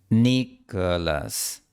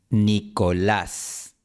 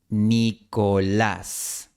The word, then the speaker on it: Nicolás: Nicholas, Nicolás. Practica las vocales de forma aislada. I, O, A. I, O, A. Nicolás. Por cierto, la L española se pronuncia con la lengua empujada hacia el frente, mientras que la L